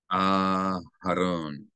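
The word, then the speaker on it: אַהֲרֹן: Aharon. So we elongate the first syllable of Aharon.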